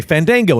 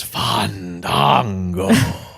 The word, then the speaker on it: Fandango: Oh, his debut was fun because he would argue that nobody could say his name right because people would say Fandango and he would go, no, it's Fandango, and nobody would do it, and then he would refuse to debut.